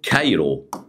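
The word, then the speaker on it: Cairo: ينطق يتنطق ايه بقى قال لك يتنطق ك يتنطق ايه ك ازاي يعني مثلا زي سبيل المثال على سبيل المثال كلمه كايرو القاهره بصوا بصوا قلنا ايه كايرو كايرو ما قلناش خالص خلي بالك عشان تعرف تنطق صح اهو طيب عندنا ايه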